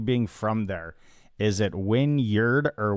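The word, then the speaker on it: Wynyard: Now, now the big question, you being from there, is it Winyard or Winyard? It's Winyard. Okay. Okay. That's how I've always pronounced it, I think.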